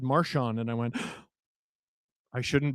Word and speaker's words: Marchand: I keep saying Marchand, but he did his pronunciation thing, and he said Marchand, and I went, I shouldn't be discovering how to pronounce his name in his late 30s.